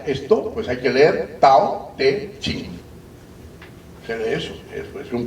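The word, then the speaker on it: 道德經: Entonces, por ejemplo, el Tao Te Ching, en pinyin se escribe Dao De Jing.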